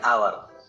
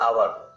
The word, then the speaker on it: hour: An ant, an enemy, an ice cream, an orange, an umbrella, an hour. Notice the word hour. As H is silent here, hour starts with a vowel sound.